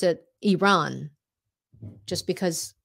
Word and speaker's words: Iran: when President Bush used to call it um Iran right and so there are many people who still who called it Iran um but on the news I would pronounce it Iran just because it's more correct so even in